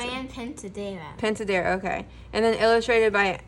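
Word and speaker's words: Pintadera: How do you pronounce Fran it? Pentadera. Pentadera, okay.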